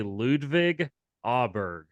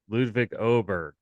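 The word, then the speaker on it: Ludvig Åberg: It's they pronounce that A with the funny symbol above it, kind of like an O. So Ludwig Oberg, yep.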